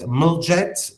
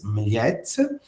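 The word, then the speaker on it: Mljet: morning and we say towards the island of Miet. So M L T Americans like to call it Muljet but the pronunciation is Mette.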